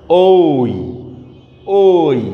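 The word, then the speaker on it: ঐ: দেখো, ওই বর্ণটা আমরা যখন উচ্চারণ করব, ওই ওই, হ্যাঁ, বর্ণটা দেখো উচ্চারণের সময় অ প্লাস ই আসতেছে কিনা দেখো, বাসায় ভালোভাবে প্র্যাকটিস করে দেখো।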